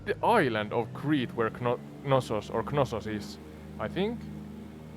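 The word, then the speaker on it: Knossos: pronunciation in English is nosos with a silent k it's understandable that you'd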